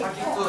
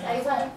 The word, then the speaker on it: Saigon: 한국 발음 어떻게 해요? Saigon. 야, 사이곤 하지 않아요? 사기꾼. 사이곤. 사기꾼. 아니, 사이곤.